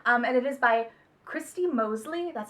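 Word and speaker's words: Moseley: sent and stuff, and it is by Christy Mosley. That's how you say it. Mosley.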